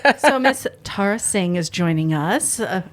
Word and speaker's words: Tarah: If you call me Tara, you have to call me Terror. Terror. That's the rule. I'm like, So Miss Tarah Singh is joining us, a local artist, creator.